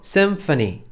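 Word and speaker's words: symphony: 마지막 자거든요 교향곡 이라는 뜻의 심포니 에요 영어로 쌤 퍼니 씀 팬이 어 ph 는 f 발음 쓰 나서 센서는 이라고 이야기 하고요 우리가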